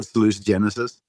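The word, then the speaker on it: salutogenesis: There's no correct pronunciation. It's a word that's written. It's like Latin. I just call it salutagenesis, but I can call it salucenesis.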